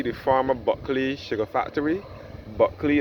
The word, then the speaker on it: Bulkley: Buckley is spelled Bulkley.